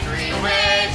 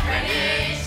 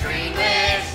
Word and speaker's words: Greenwich: They don't know how to pronounce a double T. It's Greenwich, not Greenwich. Say it phonetically. It's Greenwich, not Greenwich.